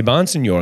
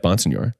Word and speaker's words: Bonsignore: two worlds one world one world where I'm saying my name the way I've said it my entire life Bon Senor the other is saying it the way it should be pronounced and the way that